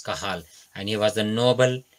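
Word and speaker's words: Cajal: a j a l but the pronunciation is kahal and he was the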